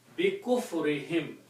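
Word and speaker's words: بكفرهم: And for the pronunciation, tajweed, we will also change this to a kasra and pronunciation will be bi kufrihim, because of their kufr, because of their disbelief.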